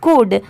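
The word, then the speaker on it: could: अब देखिए यहां पर कुड नहीं पढ़ेंगे। यहां पर एल तो जरूर लिखा हुआ है बट यहां पर एल की साउंड नहीं आएगी। मतलब एल को हम ऐड करके नहीं प्रोनाउंस करेंगे। सी ओ यू एल डी इसे कुड पढ़ेंगे। अब जैसे देखिए यहां पर एल लेटर साइलेंट है।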